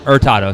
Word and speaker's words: Hurtado: You'll hear the Hurtado. Sorry, not the H.